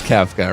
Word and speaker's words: Kefka: Everyone can agree it's Kefka, right?